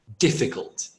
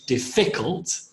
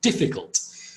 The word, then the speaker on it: difficult: So this one's, the emphasis or the stress is on the first syllable, difficult. We don't say difficult or difficult, we say difficult.